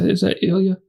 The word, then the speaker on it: Ilya: Is that Ilya? Ilya.